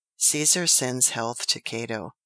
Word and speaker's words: Cato: Caesar sends health to Cato but pronounced Cato cuto Quinn much annoyed replied